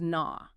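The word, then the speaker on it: نو: For instance, the Dari word for new is na. You hear that broad ah sound.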